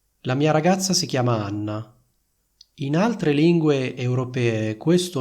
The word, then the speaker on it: Anna: Quindi sentite la differenza tra il nome Anna e il nome Ana?